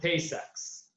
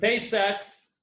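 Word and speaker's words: Tay-Sachs: disease which is called tay sachs i don't know if i pronounced it right yeah do i rebel under yep very well they had taste sex so tay sacks uh it's a terrible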